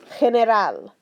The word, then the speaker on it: general: If it comes before a soft G, or if it's a soft G if it comes before an E or an I, that's going to make it sound like a that H in English, but a little bit throatier, a little bit raspier, okay? Like this word, general, okay? General. I want to hear a little bit coming from the throat there.